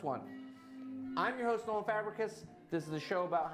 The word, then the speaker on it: Fabricius: a problem to pronounce but it's it's pronounced fabric kiss that's what the show